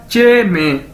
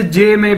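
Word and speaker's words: jiěmèi: क्या बनेगा, चे मे, और हम इसे जे मे भी कह सकते हैं, लेकिन चे मे जो है वो ज्यादा सूटेबल है, चे मे, तो इसका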